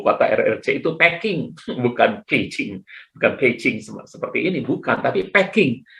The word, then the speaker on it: Beijing: Kita bacanya Beijing pasti, tapi orang yang ngerti pelafalan, mereka akan menyebutnya Beijing.